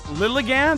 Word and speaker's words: Lilligant: Lilligant, that's how you pronounce it, is one of the prettiest Pokemon ever.